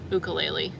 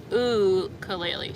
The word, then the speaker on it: ukulele: lot better at the ukulele I'll say that and somebody corrected me on how to say it in a comment they were like it's like ulele so I'm going to